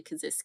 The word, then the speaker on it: Kasischke: it last week it's it's spelled like it looks like it should be pronounced Kish or something like that but it's actually kazis so there you go